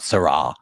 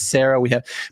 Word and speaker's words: Sarah: It's Sarah, not Sarah. Oh, wow. Okay, good. I've been saying it wrong for years. Say it like a person. The name is Sarah.